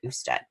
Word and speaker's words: usted: Even though it's abbreviated, you still pronounce the whole word usted.